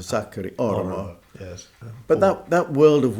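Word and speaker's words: Sakari Oramo: And, you know, if you know Finnish, the emphasis is always on the first syllable, so Sakari Aramo.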